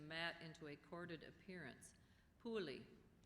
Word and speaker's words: puli: into a corded appearance pulie are there any alternate pronunciations Pei could I have the